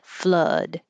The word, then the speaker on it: flood: words we started with flood which is a good example of a word that has two o's but it sounds like uh like up flood and floods um most